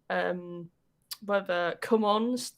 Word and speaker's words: Gen Con: It's pronounced as if you were pressing the button on the little MIDI keyboard. The little MIDI keyboard that everyone had at school where it goes, come on, DJ. Yeah, whereas the other way it's pronounced is the kind of sound we would have on our soundboard.